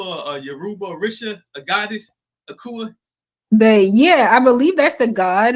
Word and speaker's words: Akua: I say, My name is Akua. It's just me born on Wednesday, It but it's sound pronounced like Akua.